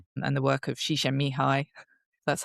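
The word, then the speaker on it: Csikszentmihalyi: states no and the work of shisha mihi that's how I pronounce his name correctly and and you say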